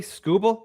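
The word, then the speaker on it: Skubal: Uh yeah, I think Tariq Scubble. Did I pronounce his name correctly? Scooble.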